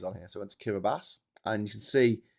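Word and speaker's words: Kiribati: So Kiraabas is a corruption of Gilbert Islands because that's originally what those group of islands were called.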